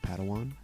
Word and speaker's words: padawan: to this bold jedi it's pronounced padawan oh padawan excuse me hey it's getting